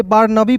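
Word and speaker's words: Barnaby: उसके बाद देखिए यहां पर बी ए आर एन ए बी वाई बार नबी ठीक है इसे नेबी नहीं पढ़िएगा दोस्तों ठीक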